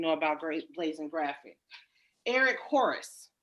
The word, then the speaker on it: Horice: Eric Horace, correct? Am I Yes, ma'am. pronouncing Yes, yeah. that Eric name correct? Horice.